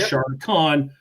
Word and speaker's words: Shardicon: So it was Shardicon, spelled like Charlotte, not shart in your pants.